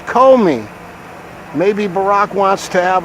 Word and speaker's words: Comey: So that's like co-captains or co-directors, Comey. Co-conspirators. It looks like commie. It's like commie a little bit, like community organizer, like communist organizer. Commie, but it's Comey.